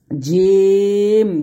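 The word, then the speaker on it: ج: তারপরে হচ্ছে দেখুন জিম জবর জা, জিমের মাখরাজটা কি জিহ্বার মধ্যখান, তারপর উপরে তলার সঙ্গে লাগিয়ে জিম উচ্চারণ করতে হবে।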